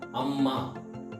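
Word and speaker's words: ಅಮ್ಮ: See, what will happen, there will be a couple of words where when we are pronouncing, we stress them a lot. Example, Amma, Appa, Akka. So these are the words, if you observe this, so the second letter, we stress a lot.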